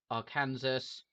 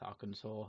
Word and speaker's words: Arkansas: I have Colorado, New Mexico, Oregon, Washington, and Arkansas. I know that's Arkansas. It's spelled Arkansas. Do I have any other? I have Kansas, just regular Kansas. Oh no, I don't have that. Oh, I don't have Arkansas either.